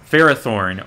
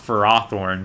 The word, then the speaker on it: Ferrothorn: against competitively is uh ferrothorn or i guess it's actually pronounced for raw thorne but i i still